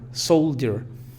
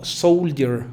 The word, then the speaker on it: soldier: Sílaba fuerte, soul, y la sílaba débil de la schwa, soldier. No podemos pronunciarla como soldier.